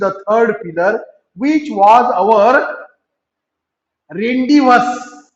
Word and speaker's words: rendezvous: वी had hardly reach the 3rd pillar which was अवर रेंडिवस. रेंडिवसचं spelling पहा, RENDEZVOUS. यामध्ये Z silent आहे मुलांना, झेडचा उच्चार करायचा नाही, म्हणून उच्चार काय करायचा, रेंडिवस.